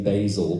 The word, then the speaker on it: Bazel: on the website, but people get confused about how you pronounce it. And someone, one of the developers has written on the site, someone says, how do you pronounce it? And the response is, oh, like the herb. So Bazel, then. But apparently you are supposed to say Bazel because it's Californian, of course.